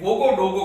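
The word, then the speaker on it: Ouagadougou: Burkina Faso का capital जिसे कहा जाता है वोगोडोगो, इसका स्पेलिंग थोड़ा अलग है पर इसे मूरे डायलॉग में वोगोडोगो कहा जाता है, जिसका मीनिंग काफी हार्ट वार्मिंग है।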